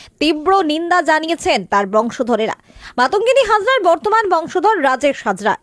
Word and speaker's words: মাতঙ্গিনী: সাধারণতন্ত্রদিবস অনুষ্ঠানে কোচকাবা চলাকালীন মাতঙ্গিনী হাজরার নাম উচ্চারণ করা হয় মমতাগিনী হাজরা।